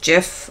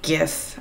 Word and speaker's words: GIF: and minuses the jiff this is actually pronounced jiff like the peanut butter jiff not gif according to the creator of Jeff this was